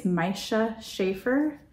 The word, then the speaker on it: Miesje Chafer: And I want to say it's Miesje Chafer, but I'm not sure if that's right.